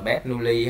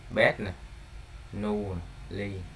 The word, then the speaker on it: Bernoulli: Đấy, tiếng Việt của mình đọc là Bernoulli ha. Bet nè. Nu ly.